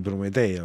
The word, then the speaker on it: Prometea: prometea perché secondo me si deve dire prometea perché quando si legge la quella poesia che sta dentro no con cui lei evoca a prometea la prima volta le parole che fanno rima con prometea finiscono tatea no D Tea e quindi per fare quella rima significa che bisogna mettere l'accento su prometea fatto questa Chicca linguistica